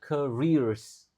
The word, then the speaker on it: careers: Jadi, a yang pertama dibaca e lalu double e dibaca i jadinya careers.